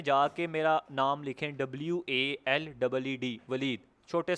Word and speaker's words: Waleed: Enter password में जाके मेरा नाम लिखें WALEED, वलीद, छोटे स्पेलिंग में।